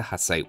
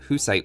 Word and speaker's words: Hussite: bohemians unique unit the hussite wagon or whose site wagon depending on your pronunciation it's part gunpowder and